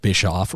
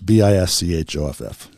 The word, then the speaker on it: Bischoff: on Spotify under Bischoff. why don't you spell your last name? It's kind of like the cookie you get on Delta Airlines.